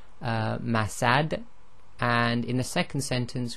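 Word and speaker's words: مسد: So in the first one, if we stop, we'll say masad.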